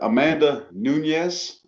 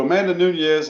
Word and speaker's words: Amanda Nunes: Amanda, I can never pronounce her name right, because some people, it's pronounced 2 different ways, and I'm sure she takes offense to one of them. But Amanda Nunes is how it's properly pronounced, I believe.